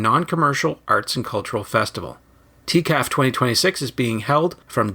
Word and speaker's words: TCAF: I mean, maybe the first thing, and we should probably address this, is how to pronounce our acronym. So, we're we're TCAF. So, if you think of like TCAF, so the Toronto Comic Arts Festival, and we